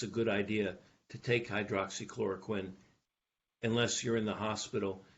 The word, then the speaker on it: hydroxychloroquine: and they were given hydrochloroquine, Which is, I'm saying it wrong, right? Hydroxychloroquine, yeah.